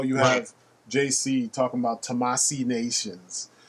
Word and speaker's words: Tamashii: Do a little bit more research, How do I pronounce this Japanese word? Tamashii.